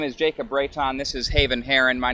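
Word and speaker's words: Reitan: Uh my name is Jacob Rayton. This is Haven Herren. My name is spelled J A C O B.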